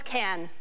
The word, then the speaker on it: Cannes: What is Cannes? Right. One syllable, 800.